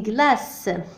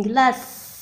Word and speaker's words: glace: Une glace. Donc لم نسمع حرف S. Une glace. سي هنا ينطق S لأنه متبوع ب E.